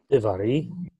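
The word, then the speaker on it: דברי: Divari. Okay. So accent would be on ri, the last syllable.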